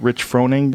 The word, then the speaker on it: Rich Froning: I know I've gone back and forth with Rich Froning. Is that how you say his name? Yeah.